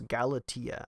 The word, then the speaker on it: Galatia: talk about galatia and I realize now that I mispronounced it in the introduction so it's galatia I'm not sure why I want to make it sound like a s with there there's clearly a t there but anyway yeah so